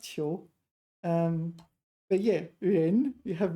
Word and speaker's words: 囚: It's pronounced Qiu.